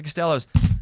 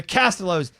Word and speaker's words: Costello: And then I went, the Castellos. And she was funny. She goes, no, you said it wrong. And I was like, I'm the biggest advocate of saying it right. You always say it right. I know. You do, and you correct us all the time. But I had been telling people, hey, it's the Castellos. It looks like Costellos.